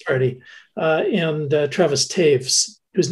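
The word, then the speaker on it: Toews: uh and uh travis taves whose name looks like toes but it's uh one of those german names that's pronounced not quite the same as it appears and and mr taves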